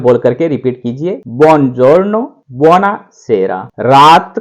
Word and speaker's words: buongiorno: इस तरीके से इसका उच्चारण करेंगे। आप साथ में बोल करके रिपीट कीजिए, buongiorno, buonasera।